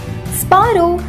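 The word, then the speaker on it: sparrow: स्पैरो इसका गलत उच्चारण है।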